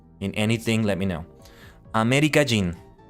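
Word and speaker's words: アメリカ人: Amerikajin. Sometimes I end up pronouncing Amerikajin. Kajin, like putting the emphasis there. It sounds like I'm saying Amerikaijin. Like Kaijin in Tokusatsu.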